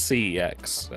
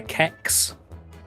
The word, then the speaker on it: CeX: or snx yeah so nobody really knows how to pronounce it like sex I say it's CeX um some people say kecks but yeah it's c-e-x